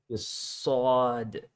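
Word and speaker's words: صاد: go straight to here sod is that right yeah yeah right so that's this okay so we'd spell it like s a a d yeah yeah yeah and yeah yeah you say this the s is has a heavy sound so maybe someone says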